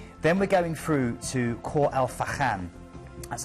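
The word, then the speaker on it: Khor Fakkan: Then we're going through to Khor El Fakhan. That's how you pronounce it.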